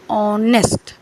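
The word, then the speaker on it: honest: सबको पता है लेकिन जब हम उसका प्रोनंसिएशन करते हैं तो एच हमारा जो होता है वो साइलेंट हो जाता है और हमारे क्या मुंह से क्या आवाज निकलती है ऑनेस्ट ऑनेस्ट ए साइलेंट है और ववे साउंड आ रहा है किसका ओ ओ का ऑनेस्ट इसलिए हम क्या करेंगे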